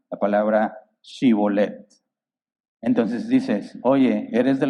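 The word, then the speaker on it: Shibboleth: Si le contestaban no, ellos decían, muy bien, di Shibolet. Si decía Sibolet, porque no podía pronunciar la palabra correctamente, lo agarraban allí mismo, en los vados del Jordán lo degollaban.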